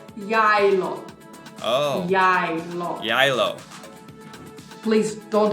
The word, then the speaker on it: Geilo: The name of this resort we are pronouncing as Geilo.